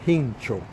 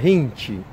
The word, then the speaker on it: Jincho: Ahora sí estoy pronunciando el nombre bien, bien, porque una persona de Puerto Rico me escribió y me dijo: amigo, es primo de Hincho, porque yo decía Hinchi.